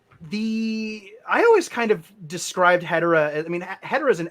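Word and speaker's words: Hedorah: Hedora is how it's said in Japanese, so I just say Hedora, but Hedora is also a.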